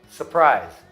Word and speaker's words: surprise: Mas, falando rápido, a gente fala February, berserk, governor, surprise. Então, o primeiro R acaba sendo omitido.